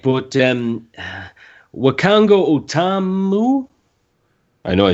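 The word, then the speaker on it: Wakanga O'tamu: Right, but Wakango Otamu? I know I said that wrong. Well, you see, I actually did say it wrong? Yeah, you got it right. Oh, I did. Oh, right. Wakango Otamu, we just came round his, and he suggested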